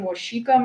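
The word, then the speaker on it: Waseca: then we are utilizing washika materials it's spelled like wasika um but washika materials for our title one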